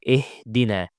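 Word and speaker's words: اهدنا: So it's not ihdina, it's ih ihdina. And try as much as possible to pronounce ha from the deepest part of the throat.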